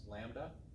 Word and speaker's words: lambda: We give it this symbol, lambda, that weird looking Greek L is pronounced lambda, and that stands for wavelength, the distance between two peaks.